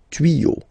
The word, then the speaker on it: tuyaux: Des tuyaux. Same rule, you don't pronounce it.